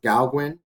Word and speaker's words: Gauguin: The three examples used in this article, the first one is I believe it's pronounced Gauguin.